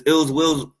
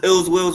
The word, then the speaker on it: iLLzWiLLz: It's iLLzWiLLz. Yes, so it's iLLzWiLLz, and that's ill will with 2 Z's, and it's spelled iLLzWiLLz, WILLZ.